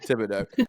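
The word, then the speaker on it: Thibodaux: down in Tibido Louisiana first of all please pronounce my hometown my bad okay tiido Tibido I loved it when I know I loved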